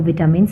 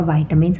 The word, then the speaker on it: vitamins: आज हमारा डे 13 है जिसमें मैं आपको विटामिन्स पढ़ाऊँगी. विटामिन्स और वाइटामिन्स आप दोनों में से कुछ भी इसको प्रोनाउंस कर सकते हैं.